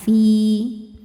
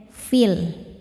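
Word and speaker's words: في: Namun ketika diwasalkan fii ini dibacanya pendek. Madnya gugur namanya takhallus bil hazfi. Kenapa bisa gugur? Karena di sini ada pertemuan dua sukun yaitu ya dan lam. Sukun bertemu sukun tidak bisa dibaca maka sukun pertama dilepaskan. Makanya fii nya jadi pendek.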